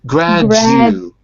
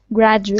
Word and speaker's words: graduate: That's the problem, because you're adding an extra GU. It's not a GU, it's Jew. Ooh, Jew. Graduate.